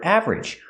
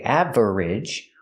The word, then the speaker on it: average: With the word average, we don't say average. We don't make it 3 syllables. We make it 2 syllables.